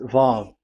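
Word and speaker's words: ו: So the word, the shape Vav is really pronounced V, like Vogue. That is it, pronunciation. So here in this side, it's pronunciation. This is pronunciation. So according to the old Hebrew word today, those who, the owner of the words, I mean, so it's a V. So don't change it into W.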